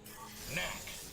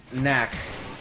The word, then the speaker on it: Knack: for fancy grown adults did you know knack is spelled with a k and the only other thing that's spelled with the k that's silent is the word knife and knives are very